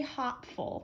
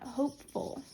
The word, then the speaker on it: hopeful: zero hopeful all right this is a silent E syllable and we have a suffix that starts with a consonant so we need to keep that e otherwise it would say hop full we don't want that we want hopeful keep that silent e